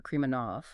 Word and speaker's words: Krimanov: So we want to make sure we get the pronunciation right throughout this deep dive. Right. It's Alexander Kremanov. Alexander Kmanov.